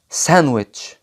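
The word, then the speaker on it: sandwich: مش بننطق حرف الدي في بعض الكلمات زي الكلمات دي، ساندويتش. سمعتوا؟ ساندويتش، مش اسمه ساندويتش.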